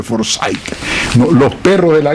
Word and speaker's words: Forsyth: por un señor Forsyth, se pronuncia Forsyth.